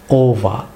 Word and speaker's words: over: ওয়ার্ডটি হচ্ছে ওভা, OVER। আপনারা অনেকে এটিকে ওভার প্রনাউন্স করে থাকেন, OVER। অনেকে এটিকে ওভার প্রনাউন্স করে থাকেন, এটি রং প্রনাউন্সিয়েশন, সেটি ব্রিটিশ উচ্চারণ হচ্ছে ওভা।